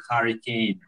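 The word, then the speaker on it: Harry Kane: Что Гарри Кейн – это как типа анаграмма, если на английском он читается как Харри Кейн. И Харри Кейн – это и есть ураган на английском.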